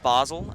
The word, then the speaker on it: Basil: recently over his name whether it's basil or basil I'm gonna have to go with basil I think that's a rather intelligent way to pronounce it I think uh as we move move towards in intellectualism here at Gilman it's it's proper to pronounce the name as if it is a a uh short vowel rather than the long one yeah and feel free